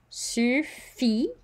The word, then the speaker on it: suffit: Suffit. So we don't pronounce the T.